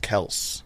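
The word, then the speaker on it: Kelce: It's pronounced Kelse. Kel. What? Yeah. There's like a Tik Tok Travis Kelsey was saying it. He's like, "Yeah, people just always call me Kelsey, so I I went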